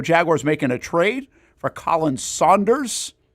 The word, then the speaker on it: Khalen: Recycled headlines of the day include the Jacksonville Jaguars making a trade for Colin Saunders. Spelled like Kalin Colin.